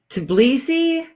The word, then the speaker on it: Tbilisi: Tbilisi? I think you do pronounce the T in it. I think it's Tbilisi.